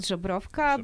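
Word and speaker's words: Żubrówka: Well, the original one is called Żebrówka, but probably nobody would be able to pronounce it or even read it.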